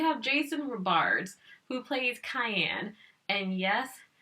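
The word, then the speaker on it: Cheyenne: Jason Robards who played cayenne and yes his name sounds like the seasoning but it's not spelled like it but oh my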